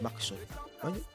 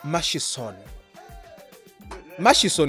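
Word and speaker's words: Murchison: people here have told me the word is Max Max you're badly off masch mashon is the right pronunciation okay it it's access to Max it's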